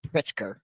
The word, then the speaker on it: Pritzker: Pritzker, I'm guessing I'm pronouncing that right, Yes, Pritzker.